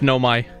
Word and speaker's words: Nomai: It's Nomai. Naomi. Nomai. I'd pronounce it Naomi.